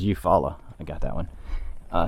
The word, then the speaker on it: Eufaula: word i can't pronounce eufaula you follow you follow she said it was you follow i got that one